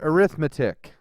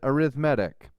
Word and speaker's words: arithmetic: The first is called, now that is the word arithmetic, right? But when we talk about sequences, for some reason we pronounce it arithmetic. Don't know why.